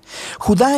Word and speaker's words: Judá: la carta de judas o más precisamente jugar de acuerdo con la pronunciación de su nombre tanto en griego como en hebreo judá era uno de los